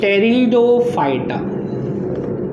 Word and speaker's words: Pteridophyta: second, third, this is टेरिडोफाइटा। ठीक है, टेरिडो, P silent, टेरिडोफाइटा, थैलोफाइटा, ब्रायोफाइटा, टेरिडोफाइटा।